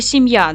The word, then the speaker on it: сім'я: ділимо на склади 7я наголос падає на другий склад в слові сім'я два склади чотири букви